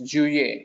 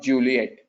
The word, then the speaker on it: Juillet: It's Juillet and not Juliet. It is Juillet. You one more time. The last alphabet in French is kind of mute. You don't pronounce it. The voice starts with a high pitch Juillet and you end at E.